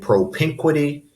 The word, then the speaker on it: propinquity: And propinquity, the second of the four syllables is stressed, so the apostrophe goes after the N.